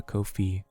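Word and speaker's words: Ko-fi: to set up the Kofi for that Kofi is pronounced like coffee M I'm just verbally saying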